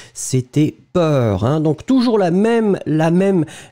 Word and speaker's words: peur: Pour l'instant, on fait un exercice où je prononce des mots et vous devez choisir le mot que j'ai prononcé. Donc ici, effectivement, c'était B, c'était peur.